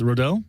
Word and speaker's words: Rodil: is it Randy rodil rodil cuz I said Rod last time you're like that's fine and then